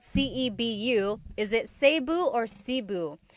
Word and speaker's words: Cebu: So, technically in the Tagalog alphabet, the letter E can be pronounced E or E like the letter I. So, I say Cebu. Cebu. And I know some people say su, but usually it's either Cebu or Sebu.